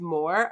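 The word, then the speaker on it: Moher: god um The Cliffs of of Moore is that how you say it m o h e r those are actually in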